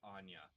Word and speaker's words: Enya: with you i bro the name you're trying to pronounce is pronounced anya is it anya okay